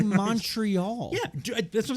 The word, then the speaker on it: Montreal: joke or just say Montreal yeah that's what I'm saying don't do the accent then just say it like you would normally as an American with no French accent like all of them